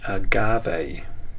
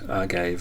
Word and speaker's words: agave: are you step forward a agave that's how you say that I was calling it arave or something something um more phonetically pleased pleasing to my ear but it's Agave thank you uh if